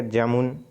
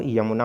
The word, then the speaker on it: यमुना: जैसे क्या हो जाएगा जमुन, तो जमुना, तो रियल में क्या होता है वो यमुना होता है।